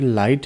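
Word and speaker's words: light: और फिर लाइट है, तो लाइट में जी साइलेंट है, ठीक है, लाइट।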